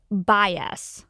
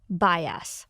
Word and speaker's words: bias: อย่าง เงี้ย เพราะ ฉะนั้น การ ออก เสียง ที่ ถูก ต้อง นะ คะ คือ bias bias ซึ่ง คำ ว่า bias